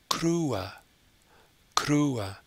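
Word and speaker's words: kruë: afrikaans is krua krua so this one has the u sound already so to split it into two syllables and have the uh at the end the two little dots show that it splits into an ooh and an a crew so the format is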